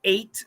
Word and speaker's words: eight: them no no no in the word eight we hear a long a it's an a vowel just like my name it's an A so the e i we don't hear an E we don't hear an I but they combine together to make an eight an a sound okay so and there's